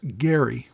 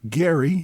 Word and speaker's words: Gerry: So gerrymander uses a soft G while the person for whom it is named Elbridge Gary uses a hard G.